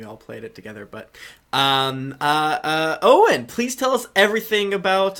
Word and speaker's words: Eoghan: And Owen is spelled EOGHAN.